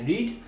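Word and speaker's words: read: আই হ completed my duty before I রিড novel. ওকে চল এর পরেরটা পারফেক্ট ইউজ করি তাহলে কি করব? এখানে আই হড completed my duty before by রেড। এর উচ্চারণ কিন্তু হবে রেড।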